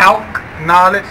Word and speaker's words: Calcknowledge: Calcknowledge, like short for calculator, means you can count on me.